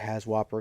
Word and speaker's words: HAZWOPER: Call it HAZWOPER because that's just how it's spelled.